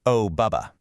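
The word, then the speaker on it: OBBB: We're talking about the recent OBB pronounced O Bubba or the One Big Beautiful Bill Act.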